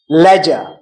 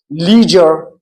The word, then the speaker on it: leisure: It is leisure, leisure in British English. While in American English, it is leisure, leisure.